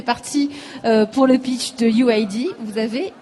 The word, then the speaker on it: UYD: Vous avez 21 ans, vous venez de Quimper et vous êtes le fondateur de UID. Alors ça s'écrit UYD pour nos auditeurs, c'est important de le préciser.